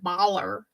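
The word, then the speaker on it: Bálor: Finn say his name he says Finn Balor like baller yeah like it's not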